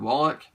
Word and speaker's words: Wallach: I used to say Walsh, but I know it's not now. Is it Wallach?